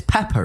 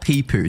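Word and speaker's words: Pepo: It's Peppo, right? Yeah, it's not Peepoo. Didn't he like actually come out and say that that's not how you like actively? well, I mean, whoever pronounced it like that needs to go to some speech therapy or something, because it's obviously not Peepoo. It's P-E-P-O. There's no double E.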